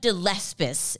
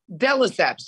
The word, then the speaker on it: de Lesseps: Luann de Lesseps. Have I ever said that right? No. Have I ever pronounced it correctly for me? It's de Lesseps. Just let it roll off your tongue. De Lesseps.